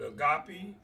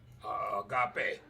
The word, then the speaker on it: agape: Some may pronounce it agape, agape.